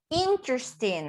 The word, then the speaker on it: interesting: interest okay the strongest the strongest intonation goes in the first syllable interesting okay more interesting than